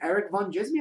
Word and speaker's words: Erik Van Djismie: m i e and the D is silent you've got the geek